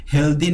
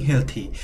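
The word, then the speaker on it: healthy: Not only for staying হেলথি, এখানে উচ্চারণে হেলদি না হয়ে বলতে হবে স্টেইং হেলথি, শুধু স্বাস্থ্যবান থাকার জন্য না, but also for building confidence, আত্মবিশ্বাস গড়ে তোলার জন্য।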